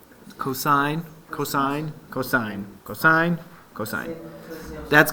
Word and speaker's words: cosine: cosine and tangent sine cosine don't say Coast's cosine cosine cosine cosine cosine